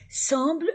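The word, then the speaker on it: semblent: entre e a entre la terminaison du verbe ent ne se prononce pas entre dans n le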